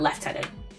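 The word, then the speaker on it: lieutenant: Apparently, apparently, apparently us Brits used to pronounce that left tenant.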